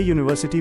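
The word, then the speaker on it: university: ध्यान दें ए यूनिवर्सिटी में यू तो स्वर है लेकिन आवाज ये वाई की आती है इसलिए ए लगेगा।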